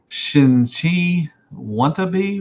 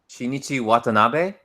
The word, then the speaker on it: Shinichi Watanabe: Have you heard or seen Golly, I'm gonna butcher this name. Shinchi Wannabe Works? Wannabe Shinchia? Shinichi Watanabe. Yes. Golly, I butchered the crap out of that.